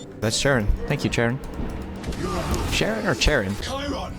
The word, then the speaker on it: Chiron: Sharon or Chiron? Chiron, that's how you say it.